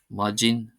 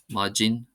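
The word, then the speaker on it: maidin: For example, the word majin majin. Majin meaning morning is spelled as if it had is spelled without uh a long vowel on the final I, but it's as if it's pronounced as if it had that and it means morning.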